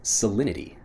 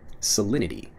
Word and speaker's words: salinity: of the conversation next salinity salinity when I'm pronouncing it fast salinity even though again we have that T sound salinity becomes solidity when we're pronouncing it quickly what's the salinity of